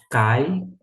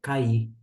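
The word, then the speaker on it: καί: Testamento que significa e note que em termos de pronúncia eu falo Cai e agora eu encontrei um professor de grego que quando tem esta acentuação no yota que é esse izinho aqui no final a maneira como ele se encontra ele pronuncia cair aqui então Alguns vão pronunciar cair ca e novamente ca mas fique à vontade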